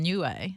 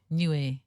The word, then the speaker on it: Niue: you so anyway you've just come back from new way and I feel like even me saying that name I don't pronounce it correctly how do you say it newer new air yeah okay and the reason you know how